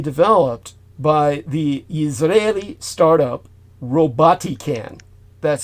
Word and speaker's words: Robotican: Now, this drone was jointly developed by the Israeli startup Robotican. That's spelled R-O-B-O-T, robot, I-C-A-N, Robotican.